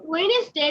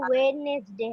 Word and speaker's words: Wednesday: okay but its pronounce is Wednesday not Wednesday সবাই প্রোনাউন্সিয়েশনটা ঠিক করে ফেলো ডাব্লিউ মিস এটা এটা আমার মাও আমাকে বলেছে এটা ওয়েডনেসডে হবে ওয়েডনেসডে হবে না Wednesday understand everyone understand this